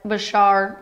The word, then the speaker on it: Bashar: President Bashar Al Assad, I've been saying Bashir, it's actually more like Bashar, a mix of the two.